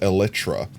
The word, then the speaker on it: Elytra: Did you know the actual say Elytra is Elytra? Probably. I think I've heard people announce, like pronounce it that way, and I looked it up, and since it's supposed to be based off, like, bug shells or something, like an actual real-life thing, and that's the way you pronounce that real thing, I'm like, yeah, that's probably right.